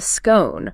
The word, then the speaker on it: scone: southern British, then you commit to the scone, rhyming with bone.